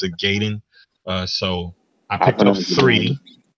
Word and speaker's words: Ninja Gaiden: I picked up Ninja Gaiden, however you say it. For everybody out there, I pronounce it Gaiden.